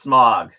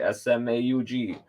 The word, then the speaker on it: Smaug: Because he apparently would have pronounced Smaug wrong. It's just smog. Guys, it's just smog. Just like smog. S-M-O-G. S-M-A-U-G. It's not Smaug.